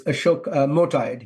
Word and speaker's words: Motayed: I don't know if I'm pronouncing his name correctly. It's close. It's Ashok Motayed.